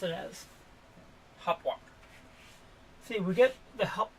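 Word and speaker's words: Hauptwache: It is Hopwalk, not Hopwatch. Which a lot of Americans pronounce it as. Hopwalk.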